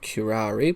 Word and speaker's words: curare: is and how it's used in medicine curari pronounced curari was used by South American Indians as arrow